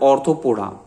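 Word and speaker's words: Arthropoda: चलते हैं next phylum 6 की तरफ, ऑर्थोपोडा।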